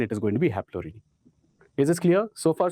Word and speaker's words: Haplorhini: Okay, Strepsirhine is kind of spelling, the pronunciation, but Strepsirhini, and Haplorhini.